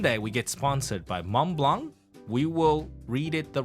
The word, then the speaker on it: Mont Blanc: BL M BL okay you don't you don't pronounce the T and the C don't pronounce the T